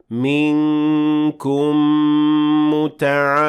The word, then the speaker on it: منكم: So this is a case of idgham with غنة. So you will say it like that. منكم متعمدا.